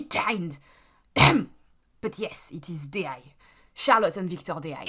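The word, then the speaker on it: Deshayes: are your favorite French conjoined twins who totally did not cause a whole bunch of terrible bugs during their launch. Please welcome the twins, Charlotte and Victor How do you pronounce? It's D.I., you idiot!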